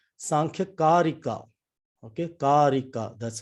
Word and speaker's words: Karika: Okay, Karika. That's how you pronounce it. Sankhya Karika.